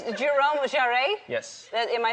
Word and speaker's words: Jerome Jarre: It's Jerome Jarre? Yes. Am I saying it right? I mean, in French, we say Jerome Jarre, but I'm not going to ask you to Jerome say Jarre.